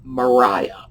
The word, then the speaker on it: Maria: and our culture now in regency england it would have been mariah just as the name sophia as in sofia loren would have been sophia that was how they pronounced it period so uh if you want to read it properly you see maria you think mariah you see sophia you